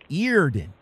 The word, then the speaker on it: Eerden: on the van eater earden ear i pronounced the right ear then right feared it yeah like ear like ear and a den but it's e-e-r all right thank you